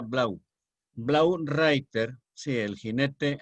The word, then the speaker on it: Blau: Blau, se escribe Blau y se pronuncia Blau.